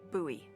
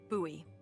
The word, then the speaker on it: Bowie: no warning, he pulls out this huge rusty Bowie knife. It's actually pronounced Bowie. What? No, it's like the last name, like David Bowie. Different last name. Bowie.